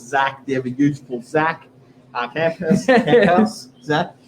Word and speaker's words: Camphuis: Myself, Stevan, and of course Zac, the ever beautiful Zac Camphuis. Zac, pronounced Camphuis, Camphuis.